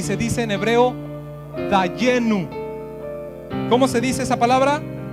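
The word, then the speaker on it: דיינו: Y esa expresión yo espero que la pongan ahí en sus pantallas, la van a conocer y se dice en hebreo dayenu.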